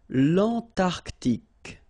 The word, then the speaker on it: Antarctique: Remember, Q-U-E here, it's K. Okay, so tic. L'Antarctique, l'Antarctique.